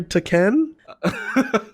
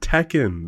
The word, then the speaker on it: Tekken: no no no like no sane person says to Ken like it's Tekken that's all right we're